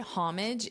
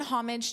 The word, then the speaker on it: homage: And I did hear some speakers drop the H, but more speakers pronounce the H.